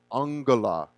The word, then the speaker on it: angula: This Sanskrit word for number, and I'll spell it for you, is angula.